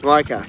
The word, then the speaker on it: Micah: Is it Misha or Micah? Am I saying it wrong? If it's Micah, yeah, just tell me. Say yes. Micah, yes, got it.